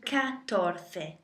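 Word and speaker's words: catorce: so go to tres uno dos tres tres and say so you've got for 14 you can't really take cuatro to say cuatroce you can shorten it to katorte so try and take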